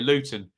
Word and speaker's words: Luton: I must pronounce my T's here. Luton.